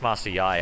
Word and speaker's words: Master Yi: stupid master yi pronounce master yai actually uh jog on you to the league of legends he's actually pronounced master yai yeah yeah master yah